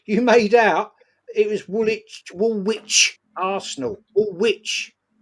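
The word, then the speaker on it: Woolwich: That you wanted me to meet you at Wool Witch. Wool Witch to go toe-to-toe and you couldn't even spell it. And you told me you lived in wool witch. It's woolitch.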